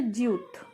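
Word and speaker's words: 지읒: তারপর আসে জিউত, জিউতটা জ বা জি এর মতো উচ্চারণ হয়, কখনো কখনো জে এর মতো উচ্চারণ হয়।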